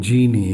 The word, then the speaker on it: Gini: The name Genie, is it a short form for your original name? Um and and even though you write G I N I, you pronounce it as G E N I E.